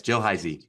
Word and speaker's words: Heisy: Your co-author Jill Heisy, did I pronounce her name right? Yes, Jill Heisy.